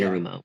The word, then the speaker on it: Anarumo: Anarumo, Arano, yeah, Anarumo. that's it. I can't pronounce it, but that Lou, he's a great defensive coordinator.